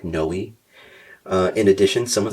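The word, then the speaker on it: Noe: It's spelled N O E, like knowi.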